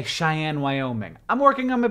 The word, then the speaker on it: Cheyenne: And CGP Grey asked how in the world the word Cheyenne, this word, is pronounced like a girl named Anne who doesn't talk very much.